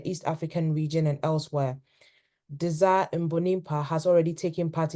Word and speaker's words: Désiré: Is it Desire? Am I pronouncing it correctly? Yes, Désiré, the same. Oh, Désiré.